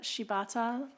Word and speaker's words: Shibata: your name and position my name is shibata that is spelled s Shi b a t and I am a